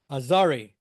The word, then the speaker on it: Azgari: And I learned that, okay, you'll see her name has a G, but it's not pronounced. It's like French. Azgari.